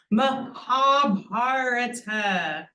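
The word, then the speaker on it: महाभारत: Mahabharata. Another way to make a long sound or long syllable, which I'll talk about in a minute,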